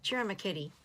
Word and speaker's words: Ciro Marchetti: Anyway, Ciro Marchetti is how you say that other guy's name.